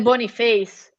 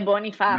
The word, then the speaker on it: Boniface: 20 milioni anche Victor Boniface, che è partito alla grande. Che non è Boniface, è Boniface.